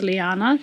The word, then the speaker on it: Leannan: It's spelt Leannan, but it's pronounced Liana.